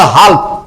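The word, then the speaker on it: whole: ঠিক আছে, এই যে এটা আমরা যদি তুমি এল ধরে বলো তাহলে হবে হাল্ক।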